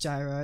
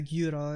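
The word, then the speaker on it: gyros: so it's not it's it's not actually pronounced Gyra it's probably like uh guro or something not that's what Upsilon sounds like that I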